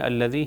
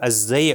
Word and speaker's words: الذی: زے سے تلفظ ہو جائے تو یہ کاسٹیوم کے معنی میں چینج ہو جائے گا.